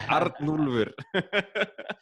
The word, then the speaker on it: Arnúlfur: I'll teach you how to pronounce it. Like Arnulfur.